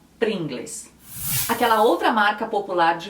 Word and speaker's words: Pringles: Em países que falam espanhol, é mais ou menos como se escreve. Essa é a diferença do espanhol. A maioria das palavras está no costume da fonética e até da cultura ler como se escreve. Então, a maioria fala Pringles.